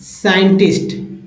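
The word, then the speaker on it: scientist: देखिए accent accent accent साइंटिस्ट साइंटिस्ट तो ये जो है एस के तुरंत बाद अगर सी आए तो सी साइलेंट होंगे कुछ एग्जांपल था अगला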